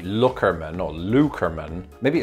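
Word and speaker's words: Loockerman: think it's lukamin again we had to resort to reddit for this and on that reddit post they say that it's larkermann larkerman i can't do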